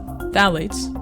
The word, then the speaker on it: phthalates: of chemicals called phthalates phthalates pronounced without the ph are present in so